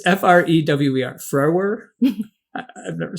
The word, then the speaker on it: Frewer: Oh my, I've never pronounced his last name before. Matt. It's Frewer.